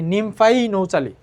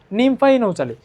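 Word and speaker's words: Nymphaea nouchali: তারপরে আসো শাপলা, শাপলাকে আমরা উচ্চারণ করতে পারি নিমফাই নৌচালি, ঠিক আছে? নিমফাই নৌচালি।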